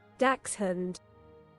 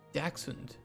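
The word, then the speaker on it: dachshund: Daxund. Daxund. It's British pronunciation.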